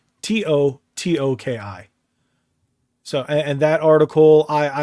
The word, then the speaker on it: Totoki: Well, if I'm not mistaken, there was they did announce the interim CEO position, and it's Hiroki Totokai. I think I'm pronouncing that correctly. It's Hiroki Totoki.